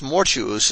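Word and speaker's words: mortuus: a double you for thus more jews is pronounced like fatchus arjus conspicuous and similar words which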